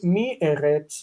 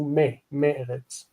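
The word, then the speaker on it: מארץ: The dagesh is rejected, and it makes the e, mi eretz, into me eretz.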